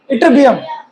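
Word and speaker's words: Ytterbium: इटरबियम। इटरबियम Y silent.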